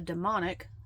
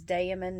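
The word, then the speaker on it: daemon: It is damon not demon not the bastardization that is the word demon. Demon demons if they do exist for me which means evil spirit.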